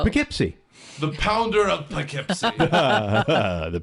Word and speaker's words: Poughkeepsie: How do you say the one that's, like, Poukeeeps? Poughkeepsie? Poughkeepsie? Oh. Poughkeepsie.